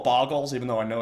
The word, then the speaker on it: Bogles: expect uh bogles which I'm going to call bogles even though I know it's pronounced bogles uh cuz it's more fun to say boggles bogles get a little Chicago with it um